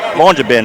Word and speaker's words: Longyearbyen: Longyearbyen, I think is how they pronounce that.